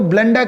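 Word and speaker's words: blunder: किसी भी शब्द के अंत में बेटा अगर आर आता है तो उसका र प्रोनाउंसिएशन हम नहीं करेंगे बेटा, आपको नॉर्मल थोड़ा अ बोलना होता है।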